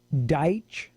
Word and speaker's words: Daich: Dave, go to DAICH, Deitch Coatings, one word, Deitch Phonetically, Coatings.